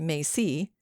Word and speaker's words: Mesa: Like all of Harriman's people, they lived on the Enchanted Mesa, pronounced Macy, by Coconino, near the town of Yorba Linda.